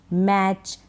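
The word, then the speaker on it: match: रहा बैच कैच हैच मैच clutch switch kitchen scotch स्क्रैच स्नैच तो इन सारे spellings में टी के बाद सीच है टी को हम नहीं पढ़ रहे हैं टी का उच्चारण नहीं होता यह आपको ध्यान रखना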